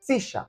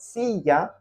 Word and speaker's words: silla: Sure, in Argentine Spanish, we say silla, silla. It is not silla because we have our own different pronunciation.